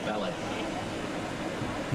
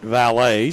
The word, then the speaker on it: Vallette: second base number six jorge ballet okay he pronounces it valet so we will as well jorge vale